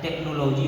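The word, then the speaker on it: technology: ठीक उसी पर एक्सेप्शन में आता है कि कुछ एक्सेप्शन आता है, यहाँ पर एच दिया है तो टेक्नोलॉजी हो गया, एच साइलेंट हो जाएगा।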